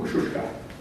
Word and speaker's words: Kosciuszko: Bob Clifford's vessels and Kosciuszko, or Kosciuszka. That's the correct way of pronouncing it.